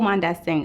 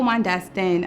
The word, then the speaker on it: Mondestin: in new york i'm mondas thing i'm it i said my name wrong start over hi i'm mondeston i'm a portrait and